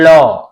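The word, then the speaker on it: law: सी ए डब्ल्यू कौ, एल ए डब्ल्यू लॉ, एफ ए डब्ल्यू एन यानी phone, H ए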